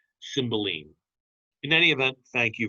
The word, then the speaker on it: Cymbeline: symbolize by william shakespeare cymbeline sorry i i i grew a costume to pronounce it symbol line because i'm very familiar with the pink floyd song if you haven't heard